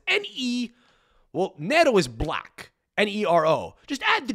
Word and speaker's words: Nero: Nero, 2 syllables. 1 letter difference.